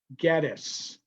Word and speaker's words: Gettys: I asked them is, how do you pronounce your name? And they all agree, Gettys. So since their name is Gettys and they pronounce their name Gettys, we should call it Gettysburg and not Gettysburg.